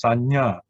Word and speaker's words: sañña: Now here you see nya. When you see nya like this, the viññāna. Okay, in the case of viññāna, the nya is in the middle, and then pañña, the nya is at the end.